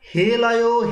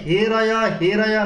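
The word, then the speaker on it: হেঽরয়ঃ: বলছেন অসুরা যখন যজ্ঞ করেছিলেন সেখানে হে রায়া না বলে তিনি হে লয়া এরকম বলেছিল। কারা? অসুরেরা। রকারের স্থানে লকারের উচ্চারণ করেছিল, তার ফলে তারা কি হয়েছিল?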